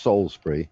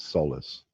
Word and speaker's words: Salisbury: first the first time it's pronounced Salisbury not Solace yes it's Salisbury if I'd have Salisbury